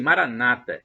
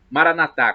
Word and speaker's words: maranatha: Jesus o aramaico e os evangélicos protestantes dizem Maranata com a tônica na penúltima sílaba nós católicos dizemos Maranatha com a tônica na última sílaba não importa o que